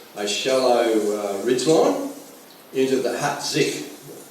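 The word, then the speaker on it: Hat Dich: shallow ridgeline into the Hat Zik, spelled H-A-T-D-I-C-H, pronounced Hat Zik. And Hat Zik was an area for logistics support and resupply, hospitals, all that sort of stuff.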